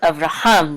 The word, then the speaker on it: Avraham: this right here so avraham that the accent is on hum and this is um